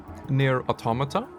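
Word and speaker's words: NieR:Automata: game it's on my backlog I believe um near automata that's how you pronounce it it's a game that I want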